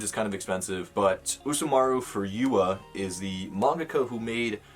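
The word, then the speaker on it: Usamaru Furuya: in a store before uh but we have usamaru for for yua that's how you pronounce it and this is shortcut shortcuts volume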